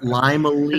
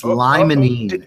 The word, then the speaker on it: limonene: Bothers me when I hear you say again. limonene because there's no such thing as limonene. Sounds like a kid's nursery rhyme. It's limonene.